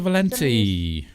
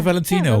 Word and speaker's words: Valencia: to see you mr valencia yes we're the only show pronouncing his last name right you know that mr valenti everyone says mr valentino or exactly mr valentino or mr valentine yeah how do you